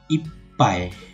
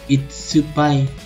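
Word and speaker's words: いっぱい: Oke, jangan dibaca itsupai karena ini sekecil, sekecil di sini tidak dibaca, melainkan hanya merangkapkan konsonan huruf di depannya.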